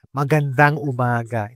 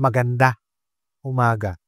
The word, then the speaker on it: Magandang umaga: so that's that's it Magandang umaga instead of Just maganda umaga Do you hear the difference Magandang umaga that's the right way to say it good morning when you